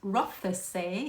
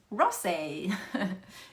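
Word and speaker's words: Rothesay: So yes, it's not pronounced rough, it's rosé if anyone wondered.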